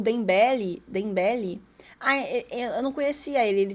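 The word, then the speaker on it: Dembélé: Dembele. Não sabia que se pronunciava assim. Dendele. Será que eu falei Dendele?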